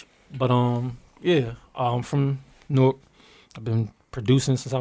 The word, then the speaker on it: Newark: No, Newark, not Newark. Newark. No, Yeah, he from New York. He don't know how to say York.